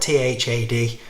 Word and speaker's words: Thad: or maybe thad beaumont it's spelt t-h-a-d i've heard people say thad i've heard people say tad i'm gonna say tad because i'm not very good with th sounds anyway tad beaumont writer